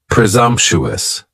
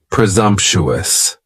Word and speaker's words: presumptuous: next is presumptuous and presumptuous has four syllables and the stress is on that second syllable and the S almost sounds a little more like a z presumptuous presumptuous if somebody is being